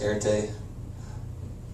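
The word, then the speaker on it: ἀρετή: show courage and when fame and honor it's pronounced airte in greek angry when did you become such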